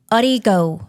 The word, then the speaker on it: Audigo: Well, I found this really cool new recording situation called Audigo. Ooh. Oh, I like it. Audigo. I've I seen think that. that's how you say like audio on the go. Ah, Audigo.